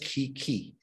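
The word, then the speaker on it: 危機: japanese is made of two characters right it's pronounced ki ki right and the first key is danger right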